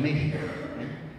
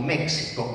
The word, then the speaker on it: México: El caso de México. México es una palabra náhuatl. Va a ser incorporada al castellano con la pronunciación correspondiente al sonido que tenía en náhuatl, que era palatal sordo.